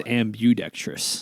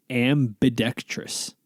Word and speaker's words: ambidextrous: always thought it was ambudectress i always thought it was like ambidextrous ambidextrous yeah i always thought it was ambudextrous but it's ambidextrous ambidextrous don't ask me to